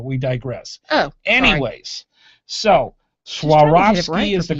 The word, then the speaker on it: Swarovski: or swarovski i'm sorry swarovski is the correct way of saying it's not schwarzkies it's what it looks like it's swarovski crystals and that is